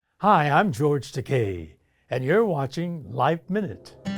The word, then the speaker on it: Takei: Hi, I'm George Teay and you're watching Life Minute. One of America's most beloved actors and activists, George Teay recently released a new full color graphic memoir titled It Rhymes with Teay.